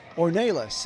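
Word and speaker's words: Ornelas: Ornelis it's pronounced Jonathan Ornelis hitting 310.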